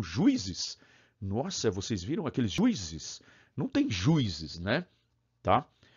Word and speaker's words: juízes: Pronuncia a palavra juízes. Não, juízes. 3 sílabas. Juízes.